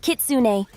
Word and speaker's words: Kitsune: Starting with Kitsune. Kitsune pronounced Kitsune.